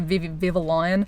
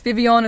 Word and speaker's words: Vivillon: happening in the game before you start calling it Viva lion it's Vivion it's kind of like the double l in like French pronunciations of things that came out with the Kalos region let's save you